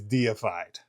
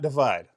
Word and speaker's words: Deified: And what better fragrance for a metal head to review than Tony Iomi's deified. Deified, not defied. I've heard a lot of reviewers call it defied, but it is deified because he's a metal god.